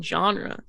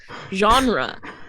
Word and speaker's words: genre: my choice genre wow i just pronounced the g in genre genre genre okay um i had